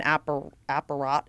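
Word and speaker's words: äppärät: It's got all your health stats on something called an apparat is how it's pronounced.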